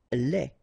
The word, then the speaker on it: lait: Lait, un lait. Okay, so the only difference is the final thing here, they, you don't pronounce it, they, you don't pronounce it, so phonetically you only have this lait.